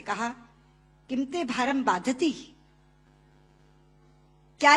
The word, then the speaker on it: बाधते: दे रहा है, क्योंकि बाधती शब्द का अशुद्ध उच्चारण आपने किया है। ये शब्द बाधते होना चाहिए।